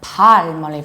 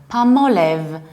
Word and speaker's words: Palmolive: Palmolive so what happens you don't stress the first syllable like pollen meleave like palm no you stress the second syllable Palmolive and please do realize that actually this name consists of two words palm like a palm tree so you don't pronounce L Ellis Island you prolong our palm and olive Palmolive and you stress the second word Palmolive in the American accent